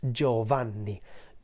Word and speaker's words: Giovanni: o in the end and it would be pronounced Giovanni Giovanni is the Italian equivalent of the name